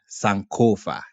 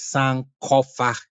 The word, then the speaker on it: Sankofa: Notice it's not pronounced Sankofa. It is pronounced Sankofa.